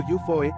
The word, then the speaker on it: UFO: UFO. Pronunciado Yufoe para abreviar.